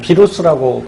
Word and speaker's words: 바이러스: 녀석이 누구냐면 바로 이 바이러스죠. 뭐 비루스라고 발음하기도 하고요.